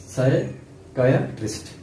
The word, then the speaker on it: psychiatrist: Next PSYCHIATRIST साइकायाट्रिस्ट। साइकायाट्रिस्ट, P इसमें silent है।